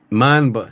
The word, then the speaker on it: Mamba: Mamba is how you pronounce it.